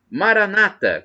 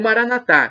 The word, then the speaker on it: Maranatha: aramaico dialeto de Jesus Maranata como dizem os evangélicos ou protestantes com a tônica na penúltima sílaba ou Maranatha como dizemos nós católicos com a tônica na última sílaba importa somos todos irmãos